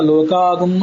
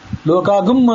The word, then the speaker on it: ಲೋಕಾಂ: ಅಕಲ್ಪಯನ್ ಆ ಈತರ ಅನ್ನಬೇಕು ಅದು ಲೋಕಾನ್ ವಸ್ತುತಹ ನ ಇದ್ದದನ್ನ ಲೋಕಾಗಂ ಅಂತ ಅಂತಾರೆ ಯಜುರ್ವೇದದಲ್ಲಿ ಅದು ಗಂ ಅಲ್ಲ ಗಂ ಅನ್ನೋ ಉಚ್ಚಾರ ತಪ್ಪು ಲೋಕಾಂ ಅಕಲ್ಪಯನ್ ಅಂತ ಹೀಗ ಅನ್ಬೇಕು ಇದು ಈತರದೇ ರುದ್ರಾಧ್ಯಾಯದಲ್ಲಿ ಕೂಡ